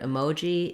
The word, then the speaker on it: emoji: So the most common error I hear for the word emoji is that when people see the letter E, they think they need to say an E sound or an eh sound.